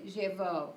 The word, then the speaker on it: llevó: So, llevó with the accent on the O.